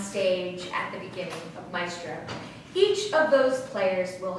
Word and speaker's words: Maestro: Maestro is actually how you pronounce it, is more of a